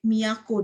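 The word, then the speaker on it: 都: Apa sih miyako ini? Ini kan kanjinya Kyoto ya. Ini bacanya miyako.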